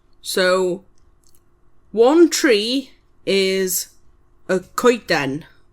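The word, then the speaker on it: coeden: So, one tree is a kiten.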